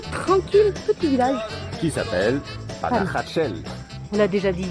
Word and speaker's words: Panajachel: Le problème c'est que ça s'écrit Panajachel et ça se dit Panajachel.